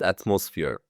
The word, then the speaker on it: atmosphere: Look at these parts of the interview and pay attention to words atmosphere and industry, in both of which the first syllable is stressed. Yes, of course. Brighton is a lively seaside city with a relaxed atmosphere.